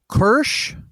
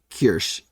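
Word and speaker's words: Kürsch: I believe it's Hansi Kirsch. Yeah, it's for those listening, it's Hansi, then Ku with an umlaut, RSCH. Hansi Kirsch.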